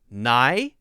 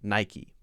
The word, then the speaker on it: Nike: Nike. Like K-E-Y key. Nike.